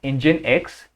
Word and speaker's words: Nginx: One of them is Nginx, and it is pronounced Nginx.